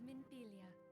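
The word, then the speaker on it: Minfilia: so much well met friend my name is minpilia and I lead the Zions of the Seventh Dawn that's how you pronounce it please be at ease you are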